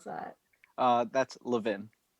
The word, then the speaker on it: Levin: clarification on the last name how do we pronounce that uh that's levin levin yes love it love it a little french